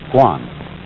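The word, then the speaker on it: 觀: And that means seeing and the whole character is pronounced guan.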